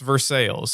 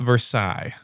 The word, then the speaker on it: Versailles: They have Versailles, which is pronounced Versailles in this state, okay? Not Versailles.